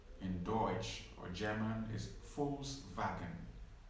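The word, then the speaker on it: Volkswagen: deutsche or german is false wagon false wagon in in german v is pronounced like an f and w is pronounced like a v so false wagon v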